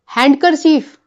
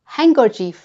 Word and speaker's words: handkerchief: Wednesday हैंडकर चीफ नहीं। हैंडकर चीफ नहीं। इसमें डांसिएशन नहीं है। और ड ना होने पर आप इसे कैसे प्रोनंसिएशन करते? हैंकर चीफ।